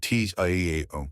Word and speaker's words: Tao: At its heart is the Tao, spelled T-A-O, pronounced Tao, which simply means the way.